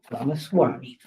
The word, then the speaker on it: Ramaswamy: There's a presidential candidate, and I am finally able to pronounce his name, Vivek Ramaswamy. Ramaswamy, okay, like a Swami.